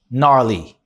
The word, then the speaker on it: gnarly: G-N-A-R-L-Y. How do you pronounce that? Forget the G. You want to just say gnarly, gnarly.